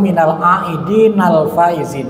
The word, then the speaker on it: minal aidinal faizin: Sebenarnya secara gramatika redaksi yang lebih tepat itu minal aidinal faizin.